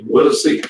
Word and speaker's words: Whittlesey: Whittlesey, yeah, like the road over here.